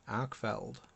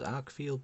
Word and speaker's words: Arkfeld: look at the Olight arcfeld I believe commonly mispronounces Arc field but there's no I in there this is a very